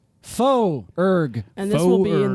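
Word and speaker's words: Foerg: just my full name my last name is spelled f o e r g that's important faux urg and this will be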